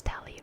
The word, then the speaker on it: Telly: The names Telly rhymes with Nelly like war Nelly.